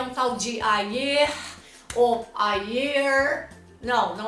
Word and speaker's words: ayer: O que o brasileiro faz? Ayer, com o E aberto. Não tem que pronunciar a vogal E aberta nessa palavra. É ayer, ayer. Além do E fechado, o Rzinho do final você tem que dar uma enroladinha na língua, né?